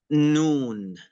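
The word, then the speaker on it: نون: This is noon. Can you say noon? Noon. Yeah. And so it's pronounced as n.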